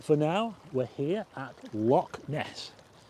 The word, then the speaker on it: loch: Easy way to pronounce loch is to say low, then clear your throat.